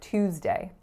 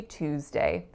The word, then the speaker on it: Tuesday: of the week so Americans tend to say Tuesday Canadians tend to say Tuesday so the two sound definitely comes from more of a British pronunciation so this is a